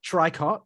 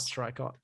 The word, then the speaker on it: Tricot: now, recommend that band Tricot, which is the band that Saoirse talked about. Trico, of course, it's not Tricot. Trico. That's the pronunciation.